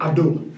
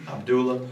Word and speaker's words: Abdullah: Abdullah. Abdullah.